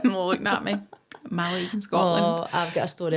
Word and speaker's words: Mallaig: asked to go to Mallaig. I don't know where Mallaig was. I genuinely thought it was Malaga they wanted to go to. They just pronounced it wrong.